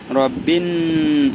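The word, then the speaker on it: رَبِّ: রব্বিন, এই যে নু অক্ষরটা দুইবার উচ্চারণ হয়, অর্থাৎ এটার উপরে তাসদিদ আছে।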